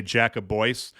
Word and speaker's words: Jacobois: I always say Jacobois, but I wasn't sure if maybe it was Jacoby. I'm pretty sure it's Jacobois.